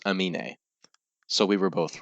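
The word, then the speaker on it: Aminé: Amin.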